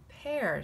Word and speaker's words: pear: This is usually E-A-R would say ear, but it's not a peer. There's another word called peer, P-E-E-R, but this is pronounced pear.